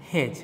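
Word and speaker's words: hedge: Reduce বা decrease করা, উচ্চারণ হবে হেজ, ডি এর উচ্চারণটা হবে না।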